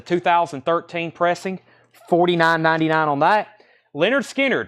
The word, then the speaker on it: Lynyrd Skynyrd: pressing 49.99 on that Leonard Skinner pronounced Lynyrd Skynyrd first MCA press there